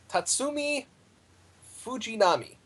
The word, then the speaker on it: Tatsumi Fujinami: Now, Iron Bite, how do you pronounce his name? Tatsumi Fujinami.